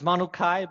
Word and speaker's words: Manukai: Did I pronounce it right? It's Manukai, but Okay, perfect.